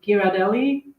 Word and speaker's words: Ghirardelli: You can also actually in the grocery store, they often have, I hope I'm going to pronounce it correctly. Is it Ghirardelli? Yes.